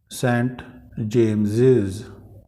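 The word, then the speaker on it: St James's: सेंट जेम्स, अगर यहाँ तक पढ़ूँ मैं इसको तो सेंट जेम्स बन गया ये, और अपोस्ट्रोफी है तो सेंट जेम्सेस, सेंट जेम्सेस। Charles, चार्ल्सेस। Archimedes, Archimedes law, ज प्रोनाउंसिएशन आ रहा है, आर्किमिडीज लॉ।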